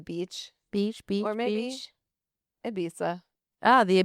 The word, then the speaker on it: Ibiza: That's how It's Spanish. in Spain they pronounce their All Z's are. Z's and S's are they pronounce España. That sounds like a lisp.